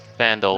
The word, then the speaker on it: Phandalin: How do you spell that? PH? Phandalin. Settlement Phandelver? Phandalin.